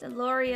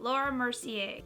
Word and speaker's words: Laura Mercier: be trying out a new foundation this is Laurie oh I always mispronounce it Laura Mercier and it is the candle glow soft luminous